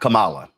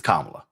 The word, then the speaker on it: Kamala: First of all, it's not Kamala, it's Kamala.